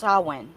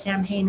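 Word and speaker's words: Samhain: they call him but in Ireland it's actually pronounced sauwin yeah um I use that pronunciation I didn't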